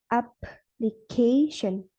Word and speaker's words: application: In word application, the stress falls on the first syllable and the third syllable as shown by 2 diacritics. For stress, it will sound like application.